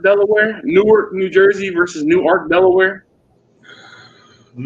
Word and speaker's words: Newark: oh well so they're they're spelled the same it's just a difference in pronunciation so there's Newark New Jersey and there new ark Delware well we get Johnny mags